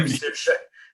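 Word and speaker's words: Saoirse: And I'd say, that is Sive or Sirsha. You know, all those tricky Irish names.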